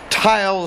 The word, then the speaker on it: Tyle: young man but an unusual first name tile it's spelled t y l e in any event here